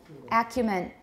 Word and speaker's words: acumen: a human i still hear this a human is possible it's again it's a very high level word we do use it but sansa now we say acumen and it's commonly used